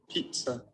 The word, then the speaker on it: pizza: इट इज नॉट पिज्जा, Pizza.